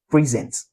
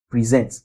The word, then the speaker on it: present: All right, then for verb, if it's a verb, we usually have it in the second syllable. All right, for example, present, all right? present present We usually have it here.